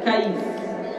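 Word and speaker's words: كيس: aluathil aku katakan ini kata Imam Nawawi, cara membaca alkais, alkais itu bifatil kaf dengan memfathahkan kafil ya dan mensukunkan huruf ya. Jadi bacanya kais kais di tujukan kepada makna yang banyak.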